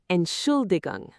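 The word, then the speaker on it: Entschuldigung: The unstressed ant at the front. Stress on the second syllable. Ensulong.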